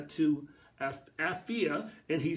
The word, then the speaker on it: Apphia: Apphia, and some may pronounce it a different way, but I'm going to call it Apphia tonight.